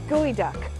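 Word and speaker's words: geoduck: and the largest preponderance in the world of gooey duck it's enough just to say it right you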